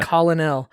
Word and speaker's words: colonel: Colonel. That's how it's spelled.